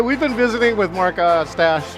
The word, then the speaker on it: Ostach: All right, we've been visiting with Mark Ostach, rhymes with mustache, and he says, social